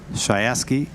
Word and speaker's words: Shayeski: Shayeski is the proper way.